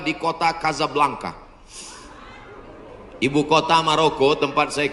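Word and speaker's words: Casablanca: Hasan 2 di kota Kazablanca. Ibu kota Maroko, tempat saya kuliah. Nama negaranya Maroko, ibu kotanya tulisannya Casa Blanca. Cara bacanya Kazablanka.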